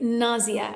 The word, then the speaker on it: nausea: Or nausea, sorry, nausea. I always mispronounce this word.